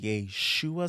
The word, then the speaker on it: Yeshua: represent that in there so this is what happens with the the Shen the Y shua sound you can't get the sh sound in Greek because they don't have that nor do they have like a standalone h letter in the in the Greek so it's just the S sound comes across U this is why